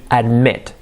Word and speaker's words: admit: To admit. Admit. Fijaos que no es admit, admit. Is por es, admit.